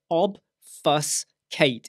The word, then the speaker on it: obfuscate: by obfuscating your email let me say that again obfus Kate it's in the title go and look up the pronunciation what that will do